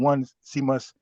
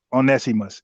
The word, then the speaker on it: Onesimus: guy that Tari went to mention, he he mispronounced the name. He called him one Semos, but his name is Onesimus. Now, the the reason I know about that because I was talking about Onesimus way back in 2019 about African, how white